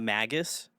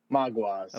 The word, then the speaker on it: Maguas: So I do want to know, how do you pronunciate your bit? Is it the Magus? Maguas.